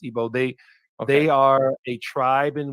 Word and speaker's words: Igbo: So the Igbo, and it's often spelled with the G. Sometimes it's not with the IBO, but it's pronounced Igbo.